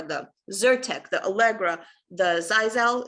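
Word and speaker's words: Xyzal: And those medications are the Zyrtec, the Allegra, the Zizal, it's spelled in the XY, ZAL, it's the Claritins, it's the Alavert.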